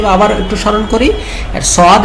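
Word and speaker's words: ص: তো সদের ক্ষেত্রে কি আবার একটু স্মরণ করি, সদ এটা মোটা সাউন্ড, মানে অ সাউন্ড, এবং এটা 4 আলিফ টান হবে, এবং শেষে কি হবে, দাল সাকিনের উচ্চারণ আসার কারণে একটা ধাক্কা হবে। কিভাবে, সদ সদ সদ।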